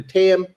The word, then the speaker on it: Tam: for what happened to tam obviously i got the name wrong earlier i said nam it was tam this is the daughter